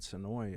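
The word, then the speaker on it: Senoia: It's spelled... Actually, if you saw it spelled, it would be Sonoya is the way it's spelled, but everybody down there calls it Sonoy.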